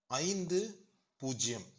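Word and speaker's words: fifty: 5 0 இத தமிழ்ல 50ன்னு சொல்லுவோம். ஆனா இங்கிலீஷ்ல சொல்லும்போது 50 அப்படின்னு சொல்லுவோம். பாருங்க, இந்த 15யும் 50யும் வேறுபடுத்துவதே இந்த உச்சரிப்பு தாங்க. 15 அப்படின்னா அந்த டீன்ல சொன்னா 15, முதல்ல சொன்னா 50 அப்படின்னு சொன்னா 50.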